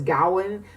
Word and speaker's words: Gawain: was in an undergrad my professor pronounced it as Gowen but I tend to say Gawain because it seems to be the most prevalent and common pronunciation of that so we're going to